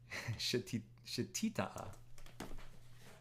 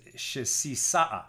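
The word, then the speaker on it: שתיתא: Shetita'a. Let me read this. Shetita'a. I want to see this word written out in Hebrew. Yeah, so we would probably pronounce it in Ashkenaz as shesisa'a.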